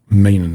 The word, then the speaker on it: Meenan: know that Kevin Meenan, I'm pronouncing it Meenan, that's the way it's pronounced. I've been saying meaning on the other podcast, so it's Meenan.